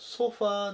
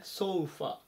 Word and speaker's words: sofa: ソファーではなくてソファ。